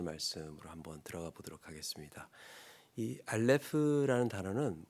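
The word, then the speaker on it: אָלֶף: 어,이 알파벳에 대해서 잠깐 설명을 하고 본문 6절 말씀으로 한번 들어가 보도록 하겠습니다.이 알레프라는 단어는 묵음이에요.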